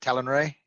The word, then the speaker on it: Talonra: So Thar, Talon Ray, is that how we pronounce it? Talon Ray? Talon. Talonra.